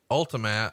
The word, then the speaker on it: Ultimatte: If you'd like to see it today, it's called Ultimat and it's spelled ULTIMATTE.